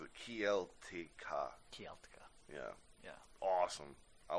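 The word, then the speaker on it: Kiełtyka: Keltyka. Oh, that's exactly how you pronounce it. Kieltika.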